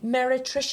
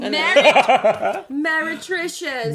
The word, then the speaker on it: meretricious: Meretricious? Yes! Okay. Have you been reading my notes? I mean, There's no pronunciation in there.